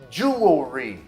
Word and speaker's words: jewelry: Outra famosa, jewelry. Jewelry. Mas muitas pessoas falam jewelry.